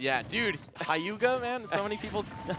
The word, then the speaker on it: Hyuga: And this man is all about the pronunciations. Yeah, dude. Hauga, man.